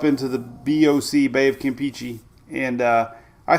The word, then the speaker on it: Campeche: Look at Bay of Campeche. Peachy. Listen. Bay of Campeche. That's official.